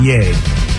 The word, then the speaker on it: Ye: Kanye Kanye West has changed his name Hawaii pronounced yay he's got no legal middle name he has